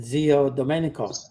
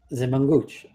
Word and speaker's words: Zio Domenico: So it should be, if you're going to do the right pronunciation, Zio Domenico, but they always call them Zimanguch.